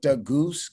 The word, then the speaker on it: Gousse: You can follow me at Goose. Goose is spelled Gousse. Then you go in my bio, you'll see it, but it's Goose Nest, Gousse Nest.